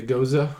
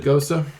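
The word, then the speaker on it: Gose: ring is the beer the goza or goes or whatever how it's pronounced we've heard so many different ways i think is the ghost is the like proper way it sounds bad but in ohio we just call it goes i like to think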